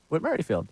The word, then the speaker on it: Whit Merrifield: Whit Merrifield.